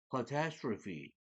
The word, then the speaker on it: catastrophe: catastrophe, 끝에 e가 발음이 되는 거예요. fe로 하고.